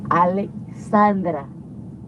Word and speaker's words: Alexandra: Say it right. It's Alexandra.